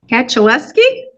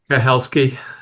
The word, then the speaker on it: Kaczaleski: Kaczaleski? Kahelski. Can you say it again? Kahelski. The C is silent.